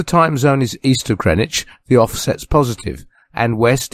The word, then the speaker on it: Greenwich: greenwich in london england the producer tells me that i must pronounce it greenwich not greenwich in my best received pronunciation so here it is greenwich in london england that